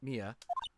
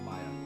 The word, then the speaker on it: Mia: who did this to Mia... I know. I always want to pronounce Mia's name as Maya. I knew a person who had their name spelled like that, but was pronounced Maya.